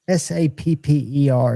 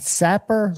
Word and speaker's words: sapper: They say, and I don't know if I'm pronouncing it right, it's s a per. Is that sapper or is that saper? Sapper.